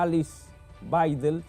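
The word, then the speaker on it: Alice Weidel: terminar el programa La ultraderecha que tiene a Alice baidel se pronuncia así como su candidata tiene casi un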